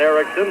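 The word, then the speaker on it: Eriksson: and the other John Erickson is e-r-i-x e-i-r-k-s-s-o-n to pronounced exactly the same two John Ericksons of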